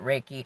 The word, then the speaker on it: Reiki: reekie symbol or some some might pronounce it reiki i go with riki that's what feels best but by all means tomato